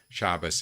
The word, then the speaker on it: Shabbos: Shabbos is just the Jewish pronunciation of Sabbath, in case you're wondering.